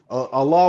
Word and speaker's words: Allah: Allah would be the correct pronunciation it's the same of name.